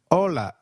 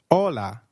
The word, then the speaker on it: hola: Hi is called hola in Spanish. Can you try that, please? Hola. Did you get that right? hola. Remember, H is always silent in Spanish. We do not pronounce it.